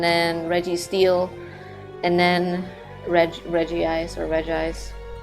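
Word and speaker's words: Regice: It's always a funny name to try pronouncing because it only has one I, and usually you say Reggie, but that one you just go with Reg Ice, I think.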